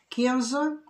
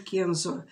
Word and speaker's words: Kenzo: вот этот модный бренд kenzo ударение правило ставить на первый слог именно кинзы он пару лет назад